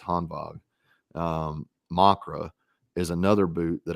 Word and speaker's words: Hanwag: But the Hanwag Makras, and it's spelled Hanwag, but it's Hanwag.